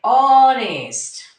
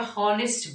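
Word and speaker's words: honest: আবার এখানে অনেস্ট, অ, আমরা হনেস্ট বলিনি, এটা কিন্তু আমাদের এসটা কনসোনেন্ট, আমরা হনেস্ট বলিনি, আমরা বলেছি অনেস্ট, অ বলেছি, সেই জন্য আমি এখানে বসাবো অ্যান।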